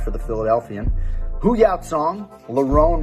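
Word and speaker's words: Lerone: the philadelphian hooyah song larone murphy don't call him lauren makwanomir connie mikhail olek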